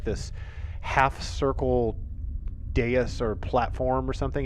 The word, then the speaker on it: dais: 12 kind of looks like this half circle dais or platform or something.